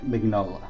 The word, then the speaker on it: Mignola: Now, some people pronounce the G, some people don't. I always said Mike Mignola. I always pronounce the G, so I may be pronouncing his name wrong, and have been pronouncing his name wrong for years.